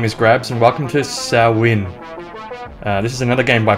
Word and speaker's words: Samhain: Hello everyone, my name is Grabz and welcome to Sow-win. This is another game by Puppet Combo, which was released for Halloween. Now I think Sow-win, if that's how you pronounce it, is a Gaelic festival,